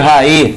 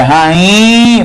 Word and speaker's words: rainha: Mas eu não leio raí. Aí o jogador raí. Não raí. É rainha. Por quê? Porque o NH dá uma nasalizada no I aí. Então, rainha não tem acento porque o NH nasaliza o I anterior.